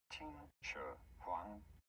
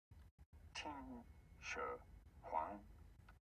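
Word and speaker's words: 秦始皇: How do you go about pronouncing this one? Qin Shi Huang. Qin Shi Huang.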